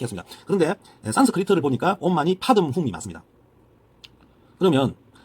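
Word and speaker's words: पद्मे हूँ: 반매홈이 아니고 판매홈입니다. 판매홈. 원 발음은 판매홈. 판매홈이 아니고 정확하게 하면 파듬훔. 이게 맞습니다. 파듬. 지금 우리는 옴마니 파듬훔. 이게 원래 발음입니다.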